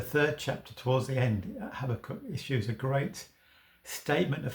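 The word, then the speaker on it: Habakkuk: third chapter of the book of Habacook or Habachok as some pronounce his name.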